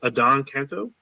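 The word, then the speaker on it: Adan Canto: So I believe his name is pronounced Adon Canto.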